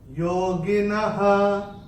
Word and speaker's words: योगिनः: और चरण की समाप्ति पे दूसरे चरण के जो विसर्ग आ रहा है चरण की समाप्ति पे, इसलिए उसका उच्चारण केवल और केवल ह ही होगा। योगिनः ऐसे करके आएगा।